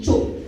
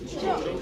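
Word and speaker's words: chope: Choke. Choke.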